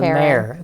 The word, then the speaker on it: mayor: it again mayor mayor it's two syllables mayor it's a diphthong major mayor america america